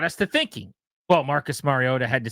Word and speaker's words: Mariota: We call him Marcus Mariota with a tea that barely is there.